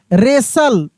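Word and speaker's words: wrestle: एस टी एल ई रेसल डब्ल्यू आर ई एस टी एल ई आर रेसलर यहां पर टी भी silent है।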